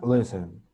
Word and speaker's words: listen: La I que no suene tan I, que suene E. Le, listen, listen.